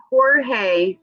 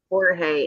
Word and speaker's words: Jorge: Is the H silent? Jorge. Okay. Jorge. Is Jorge and is George in Spanish.